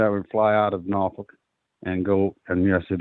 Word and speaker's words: Norfolk: And every Sunday I would fly out of Norfolk and go, and yes, it is pronounced Norfolk, and go out to Orange County. And on Thursdays, I'd fly back, all right, through Atlanta and back up to Norfolk.